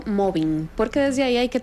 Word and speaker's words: mobbing: Sí, el acoso laboral, y como muy bien usted lo pronunció, mobbing, porque desde ahí hay que tener pues la aclaración, ¿verdad? No se dice moving.